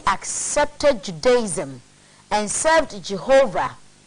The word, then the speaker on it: Jehovah: Judaism and served it jehovah pronounced yahuwah the god of good